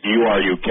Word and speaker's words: Uruk: And it's from 12 tablets from Uruk, U-R-U-K, or some people pronounce it Uruk.